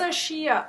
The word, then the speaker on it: rosacea: How do you pronounce? Rosacea.